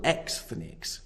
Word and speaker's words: Xthnics: The following is taken from an essay called Triple Xthnics, Jews in the American Porn Industry. And yes, I did pronounce that correctly.